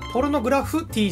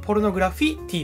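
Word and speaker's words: ポルノグラフィティ: ですからねただポルノグラフティーじゃなくてポルノグラフィティーですからねこの曲の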